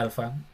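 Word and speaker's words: ἄλφα: Y se escribe aquí como dice llamada en griego, alfa, se pronuncia alfa, exactamente.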